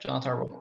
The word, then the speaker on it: Jonatan: Jonatan works too.